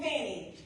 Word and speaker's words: Fani: Half the time, the media doesn't pronounce my name correctly because the correct pronunciation is Fani because the name is Swahili.